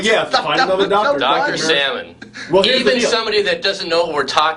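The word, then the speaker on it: Salman: yeah there was no pan his name is salmon but it's s a l m a an but it's still pronounced salmon yeah yeah there's that all right funny do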